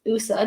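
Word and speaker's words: OUSA: So WUSA, the Waterloo Undergraduate Student Association, is a part of two external advocacy organizations, the Ontario Undergraduate Student Alliance, which is pronounced USA, not to be confused with WUSA, and the undergraduates of Canadian Research Intensive Universities, or UCRU.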